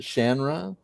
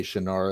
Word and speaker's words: Shannara: for all these years i've always said shannara but he pronounces it shanra but then all of his fans say shinar as well so it's it's kind